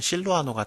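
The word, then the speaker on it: 실루아노: 그 실라를 로마 발음으로 하면은 실로아노가 돼요.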